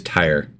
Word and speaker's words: Tyre: It is Tyre. See, that makes sense since So Tyrus.